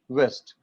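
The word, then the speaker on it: ouest: So the pronunciation is west only, but the spelling is O-U-E-S-T, west.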